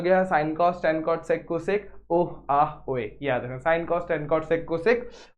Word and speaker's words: sine: जैसे कि जो साइन जो आपने पढ़ा ना, साइन तो SIN, ये तो सीन होना चाहिए, अपन इसको साइन क्यों बोल रहे हैं, लेकिन एक्चुअल में इसकी स्पेलिंग होती है SINE।